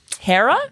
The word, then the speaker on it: Hera: it uh hera um hera cara rhymes with sarah yep h-e-r-a g-r-a she's